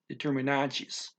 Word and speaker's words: determinantes: That's a TES ending. A TE at the end of a word is CHEE, chi. Okay, determinantes.